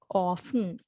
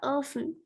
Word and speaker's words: often: right so here soften often right so we do not pronounce the t right so it's okay